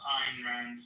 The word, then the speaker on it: Ayn Rand: It's actually pronounced Ayn Rand, but okay.